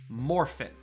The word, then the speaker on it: Morphin: come back to one concept Morphin and I did not pronounce it like that coincidentally I did that on purpose because that is canonically how it is spelled moring with a g on the end is of course